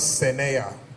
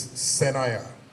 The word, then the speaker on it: Sena: my name is not Sena my name is Sena and he did that